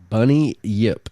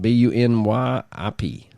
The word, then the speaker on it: bunyip: Yip and according to bunny Yip just the way you spell it b u n y i p bunny Yip or maybe bunyip Not bunny Yip anyway the bunyip according